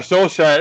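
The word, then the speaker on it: Solskjær: I already had to teach him how to pronounce saier so oh yeah soul Shire I got yeah we already got if if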